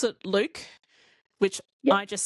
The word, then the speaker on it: Luc: Which I pronounce, I've got to ask you, do you pronounce it Luke?